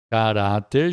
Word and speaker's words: caráter: Caráter já é uma paroxítona. Cará, a sílaba forte é orá, paroxítona terminada em R, então leva acento. Elogio é uma paroxítona terminada em O, não recebe acento.